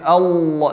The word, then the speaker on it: Allah: Dan hati-hati ketika pengucapan lafaz Allah jangan ditambah waw. Allah. Wah enggak wah. Allah. Enggak au ya, tapi Allah langsung ke lam. Allah bukan Allah ya, salah seperti itu.